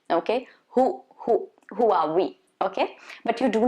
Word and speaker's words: Huawei: It's supposed to be Huawei. Huawei. So there is going to be a slight sound of H. Okay, Huawei.